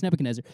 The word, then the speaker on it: Nebuchadnezzar: nebuchadnezzar nebuchadnezzar nebuchadnezzar yeah some people mess it up it's nebuchadnezzar and uh he gets